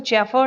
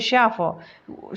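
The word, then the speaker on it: chauffeur: उनका जो ड्राइवर था, यहाँ पे ये वर्ड आप दिए, इसका प्रोनाउंसिएशन पे आप ध्यान दीजिएगा, इसको चेफर नहीं बोलेंगे, ओके, इसको शेफर।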